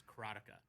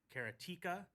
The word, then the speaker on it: Karateka: I pronounce it, and I've always pronounced it, and you're going to hear me say this all the time, is Karatica. But then I've heard people say Karatika, Karateka, and Karateka in other ways. But Karatica is the way I've said it, and I